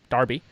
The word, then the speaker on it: Derby: don't say I said I'm happy to say Darby correctly the British way correct cuz that's the